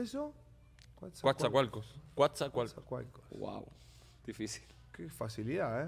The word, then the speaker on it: Coatzacoalcos: ¿Cómo se pronuncia eso? Coatzacoalcos.